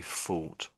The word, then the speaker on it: fought: So, that's fought. When you have a battle in the past tense, you can say fought. But if you think about something in the past tense, it's this word here. They're similar sounding. So, the top one is thought.